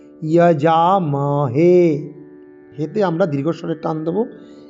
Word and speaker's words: যজামহে: যজামহে কি আছে না, অন্তর্য আর পরে বর্গীয় জ, যজামহে নয়, যজামহে।